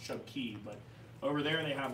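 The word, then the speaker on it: Chub Cay: spelled K, C-A-Y, and everybody says K, but actually the Bahamians they pronounce it Key. So, this reads as Chub K. It's actually pronounced Chub Key, but over there they have what's called the tongue of the ocean.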